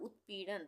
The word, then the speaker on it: उत्पीड़न: उत्पीड़न, उत्पीड़न नहीं बोल रहे हैं, हम बोल रहे हैं उत्पीड़न, तो आधे तक का प्रयोग होगा।